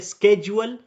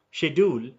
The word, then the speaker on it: schedule: very important for example if you say schedule and you say shedule both are correct one is British shedule and are scheduled that is American but it is always